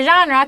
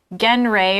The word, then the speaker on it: genre: So a genre, careful with it, it's not like genre or whatever, right? It's not pronounced how it looks, right? It's genre, like a type, the category of music, I guess. Like there's classical, pop, these are different genres. Yeah, genre, this word comes from French.